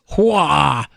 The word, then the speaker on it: Huawei: I've heard so many Americans give so many different pronunciations, but it's Hua, like Huawei.